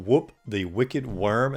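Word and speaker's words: Wurm: called Whoop the Wicked Worm, and worm is spelled W-U-R-M, and I guess it makes him a little bit more wicked, but a pretty cool sprite animation for this.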